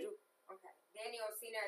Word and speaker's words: Occena: Do I pronounce it correctly? You do. Okay. Danny Occena.